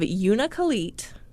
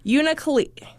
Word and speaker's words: Unalakleet: She's the fourth of 6 children, and she was from the small village of Unalakleet. I knew I was going to say it wrong. That's okay. Unalakleet.